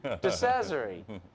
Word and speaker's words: DeCesare: DeCesare. Rhymes with treasury.